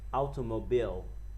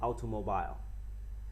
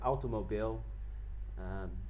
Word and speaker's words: automobile: and then we have this word is read automobile not automobile we have to say automobile it means car a car